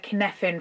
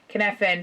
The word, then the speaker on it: Cynefin: I do like the Cynefin framework. That's a Welsh term. It's spelt Cynefin.